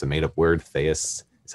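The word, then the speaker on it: Chthaeus: s dot com it's a made up word fais that's how you pronounce it but anyway there you'll see uh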